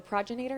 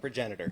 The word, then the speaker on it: Progenitor: here, it's called the Progenator. Is that right? Progenitor. Progenitor. I keep saying it wrong.